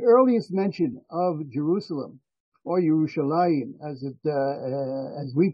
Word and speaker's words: Yerushalayim: The earliest mention of Jerusalem, or Yerushalayim, as we pronounce it, is found in the Egyptian execration text, the curse texts from Egypt that were written in hieratic script.